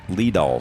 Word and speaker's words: Lidal: And he said it is pronounced Lidal. So the information I got, Lidal, was correct.